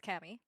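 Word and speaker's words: Caoimhe: Tammy yes the ones that's spelled that doesn't sound yeah c-a-o-i-m-h-e yep that's Cami what are they just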